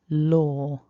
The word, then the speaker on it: law: Remember it was OR, but we write it with an A.